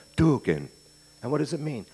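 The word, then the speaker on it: tuargain: And there was a word, T-U-A-R-G-A-I-N, pronounced duking.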